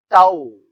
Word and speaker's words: tau: Torque symbol is tau. Okay. So this is actually momentum force. So Newton meter. Torque is measured in Newton meter. So this is pronounced as tau.